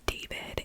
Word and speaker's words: D4vd: to a rising music star named David and it's spelled D4 V D, but his government is David Anthony Burke.